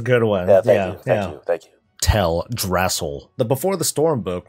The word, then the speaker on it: Teldrassil: Oh, I was just focused on how you pronounce Teldrassil. That's a good one. Yeah, thank you. Teldrassil.